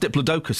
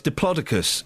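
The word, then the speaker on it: Diplodocus: And the big diploicus turns out it's not pronounced diploidocus as I was told in the 70s. That's what I thought it was. Yeah, I know. It's diplocicus.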